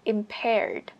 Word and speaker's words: impaired: có thể dùng từ impaired. Impaired này cho âm 2.